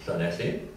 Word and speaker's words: Llanelli: lovely town of Llanelli, when of course it was spelled with a Y at the end and not an I. But it was still pronounced Llanelli.